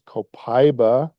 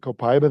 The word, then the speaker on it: copaiba: So, the next product we'll talk about is copaiba or I just got back from Brazil on Sunday and you better not pronounce it copaiba there. It is copaiba. I'm very adamant about that.